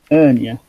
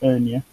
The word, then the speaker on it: Ernia: Ernia. Like Enya, but Ernia.